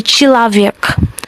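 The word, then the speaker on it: человек: Another example is the chilavek. Chilavek. The spelling is the ye that is written there, but it is pronounced as e.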